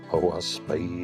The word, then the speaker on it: Oahspe: lower books pertain to the contemporaneous Earth history o spay is pronounced o as in a clock I as